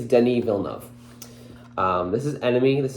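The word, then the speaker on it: Denis Villeneuve: heard this is enemy this is a Denise Villeneuve I don't say it Danny villanov I always thought he was Spanish so I always said Danny via nueve uh which is not spelled like that at all uh then I heard somebody a couple people actually say it the right way I think so I think I think it's Denny villanov um this is enemy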